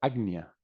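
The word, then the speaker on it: आज्ञा: Logo, o siguiente, o ágnea, que está entre as célias, as sobrancelhas, significa, ágnea significa agnia se pronuncia agnia, comando, comando, porque ele comanda a todos os demais, é o centro comando.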